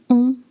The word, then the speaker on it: on: So, you start with the sound O, and then try to lift the back of your tongue and make the air go through your nose.